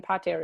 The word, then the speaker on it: pater: It's interesting that mater has a long A in it, but pater, actually, the A in pater is short.